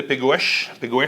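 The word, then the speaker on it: Pegões: Adega de Pegoes. Pegoes. Ah, tu le prononces, ton portugais.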